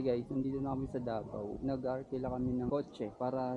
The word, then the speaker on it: Davao: 'Yung mga lokal sa Davao ang tawag nila ang tamang pronunciation sa Davao, Davao. Pag nandon ka na Davao.